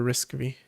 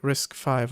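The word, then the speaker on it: RISC-V: It's written for arm, not for risk v. I again I always struggle to remember if I'm supposed to pronounce it risk five or risk V.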